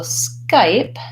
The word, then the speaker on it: Skype: those different contacts so Skype has the SK blend at the beginning and then the the letter Y says I just like this though the pronoun I or the letter I it's a diphthong that